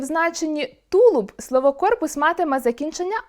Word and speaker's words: корпус: Окрім пояснення слова, тлумачний словник фіксує правильні наголоси (корпус — на «о») та деякі граматичні відомості (корпус — іменник чоловічого роду).